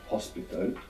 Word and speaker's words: hospital: So it's written, the H is written in convertible words, for example, like hospital, ends in AL, but it's not pronounced. You must imagine that it begins with an O.